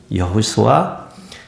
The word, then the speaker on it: 여호수아: 히브리 말로는 여호수아, 그리스 말로는 이에수스.